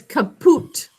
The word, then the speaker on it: caput: heard the game kahoot oh it sounds like kahoot yeah but it's kapoot um quick thing i'm